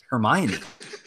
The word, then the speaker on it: Hermione: out with Harry like what that's how you pronounce it Hermione how it's her me Harry Mila sounds like